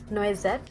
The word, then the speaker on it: noisette: foundation and I got the shade noisette it's that's how it is pronounced this is how the